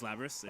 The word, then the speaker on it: Lapras: we got Akihiko we have how do you pronounce is it lebra's so is Lapras okay so Akiko labyrinth and Mitsuru Akiko being